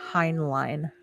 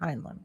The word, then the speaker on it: Heinlein: Heinlein. Oh, Heinlein. Okay, cool. Mm-hmm. Oh, Heinlein? Is that how you say it? Heinlein.